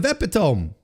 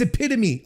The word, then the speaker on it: epitome: What's the What did I What What is wrong with the pronunciation of epiome? Oh, it's epitome.